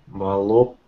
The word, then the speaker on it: voluptuous: Vol. Vol as in volume. Up. Voluptuous. Voluptuous. Voluptuous. Voluptuous. Miguel? Voluptuous. Again? Voluptuous. Good. Remember the vol for volume, like volume control.